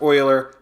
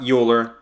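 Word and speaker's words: Euler: mathematician of all time Leonard Oiler pronounced Oiler not uler even though it looks like uler and what's special about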